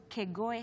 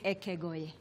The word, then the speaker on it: Ekegoe: Have you ever heard of Kegoe High School? It's just stop. But yes. That is where you are. The pronunciation is different. It's Ekegoe.